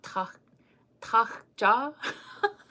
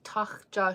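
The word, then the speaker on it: tȟáȟča: I have to get my gutturals ready. Okay. Deer in Lakota is tachja.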